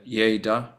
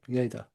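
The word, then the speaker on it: Lleida: He was over in Yaya. Is that how you pronounce it? Yeah. Yaya.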